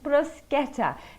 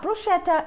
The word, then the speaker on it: bruschetta: how to make and tell you how to pronounce one of my all-time favorite simple italian dishes bruschetta not bruschetta it's bruschetta simply grilled bread that the italians would dip